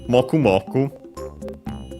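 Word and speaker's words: もくもく: Moku moku. We check also the accent. Okay, accent on the first syllable, as often those are.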